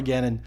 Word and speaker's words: Ganon: acarina but just to drive the home it's Ganon with one in I'm not asking but commanding